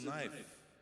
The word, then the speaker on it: knife: It's it's a knife. This is a knife." So then he said, "Oh, he says, you don't understand it. You don't pronounce the k."